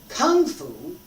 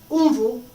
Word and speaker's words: Gong Fu: We pronounce it, American English, Kung Fu, right? Kung Fu, no, Gong Fu. Different. You should be able to hear the difference.